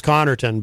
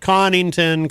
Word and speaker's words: Connarton: I feel, my name, my last name is Connarton, but it's been said many, many different ways, especially recently. There's this guy in New York who makes these videos about me. He pronounces it Connington, Collington, Comington. There's many different pronunciations.